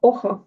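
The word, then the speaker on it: hoja: А чи не читається? Ох, оха. Оха. Так, бачите?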